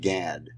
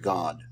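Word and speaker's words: גד: what we're looking here this is not Gad this is this is pronounced God uh gimal doid is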